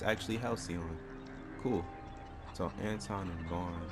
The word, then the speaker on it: Halcyon: I was actually pronouncing it right this whole time. It's actually Halcyon.